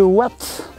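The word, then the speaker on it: Watten: Ça s'écrit Watton, mais on prononce Watt.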